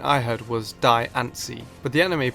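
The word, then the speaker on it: Diancie: So, the correct pronunciation could be the same as the anime with Diani, but the name may be a combination of diamond and fancy.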